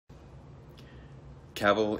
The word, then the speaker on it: Cavill: cavil is pronounced like travel travel capital I have an